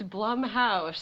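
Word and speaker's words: Blumhouse: a lot of the bloomhouse stuff but what I'm saying is like I've seen Bloom house why can't you say it right it's Blum House whatever you face is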